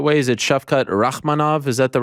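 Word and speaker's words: Shavkat Rakhmonov: pronouncing his name the right way is it chef cut rachmanav is that the right way to pronounce it yes okay i just you know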